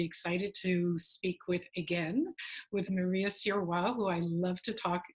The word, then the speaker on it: Sirois: I'm really excited to speak with Maria Sirois, who I love to talk. Did I pronounce that right? I pronounced it in French.